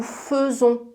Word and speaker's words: faisons: Nous faisons, on écrit F-A-I, mais on prononce feu.